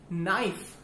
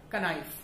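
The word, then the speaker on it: knife: एफ E, that is नाइफ, नॉट कनाइफ. For example के एन आई जी एच टी, That is night, not knight. तो K और N जब भी starting में होता है तो उसमें हमारा K साइलेंट होता है और बाकी वर्ड हम प्रोनाउंस करते हैं.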